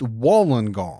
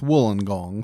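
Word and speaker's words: Wollongong: Now, you would think it's pronounced Woolen Gong. You would think, but I've been told that it's Wooling Gong, so I'm going with that.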